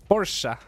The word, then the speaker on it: Porsche: Porsche. That's how you say Porsche. And it was, you spell Porsche Porsche P-O-R-C-H-E, but you say Porsche. That's how it's pronounced.